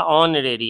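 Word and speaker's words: honorary: जॉब एन लगेगा क्यों H silent है ए है से लेकिन इसका ऑन रेरी है ना ऑन रेरी ओ से उच्चारण शुरू हुआ इसलिए एन लगा नेक्स्ट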